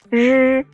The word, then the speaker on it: 日: 日. No sound like this exists in English.